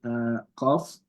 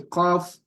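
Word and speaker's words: قاف: So you learn, so it's called qaf, right? Letter qaf, when it has a sukun, it's pronounced with qalqala.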